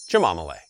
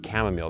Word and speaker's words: chamomile: Of course, I'm talking about chamomille. And yeah, I did just say chamomille, guys. And if you don't like that I pronounce it that way for fun, you might just have to unsubscribe.